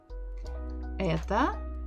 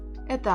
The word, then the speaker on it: это: Ударение, the stress, is on буква Э. So, О, without a stress, без ударения, will give us sound А. Значит, мы напишем. Oopsie. Let's change the language. Изменим язык. So we sound this as это.